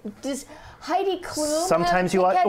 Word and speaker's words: Heidi Klum: Rhymes with boom boom. Yeah. Heidi Klum.